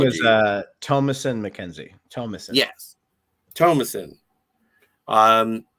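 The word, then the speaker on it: Thomasin: joy and uh I always get this lady's name wrong Thomasson McKenzie Thomson Thomasson I don't know my her name is uh tomason McKenzie Tomas yes tomason um but yeah and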